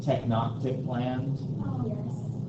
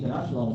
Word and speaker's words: Tenochtitlan: Or sometimes pronounced Tenochtitlan.